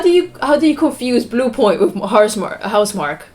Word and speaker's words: Housemarque: That is the spelling, but it's actually pronounced Housemarque.